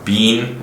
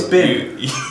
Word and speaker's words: been: I noticed at the beginning of the episode last time you maintained that it was pronounced bean, like how's Ben being? But then in the middle of the episode, it's bin.